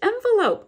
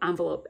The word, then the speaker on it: envelope: But it's a little orange envelope. Envelope, envelope, envelope. I've looked it up. You can pronounce it both ways.